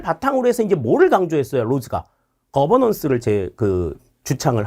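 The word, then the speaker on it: Rhodes: 자, 다음 로데스라고 나와요. 로데스가 아니라 로즈죠. 로즈. 거버넌스를 이야기한 로즈입니다.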